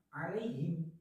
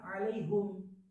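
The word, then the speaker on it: عليهم: Nah, kemudian wajah kedua dari Imam Qalun ini adalah seperti kayak riwayat Hafiz, terbacanya alaihim bukan alaihum. Nah, lalu siapa yang membaca alaihum pada ayat ke-7 suratul Fatihah? Nah, di sini dijelaskan bahwasanya alaihim Hamzah wa Ya'qub bi dhammil ha.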